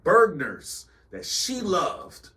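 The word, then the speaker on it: Bergner's: Bergers that she loved called what bergners spell that b e r g n e r s Bergers Bergers it sounds like we shouldn't be there definitely sounds like we should not ever shop there Hey listen if you was from the Midwest you knew what what what Bergers was Bergers Bergers man Bergers it just sounds so why you say it like that it sounds disgusting hey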